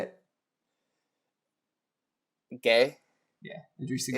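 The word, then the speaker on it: Gueye: Gay? Yeah, Idrissa Gay.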